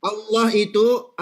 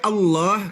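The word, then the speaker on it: الله: Dibaca Allah. Kenapa dibaca Allah? Dibaca tafkhim. Allah dibaca tebal.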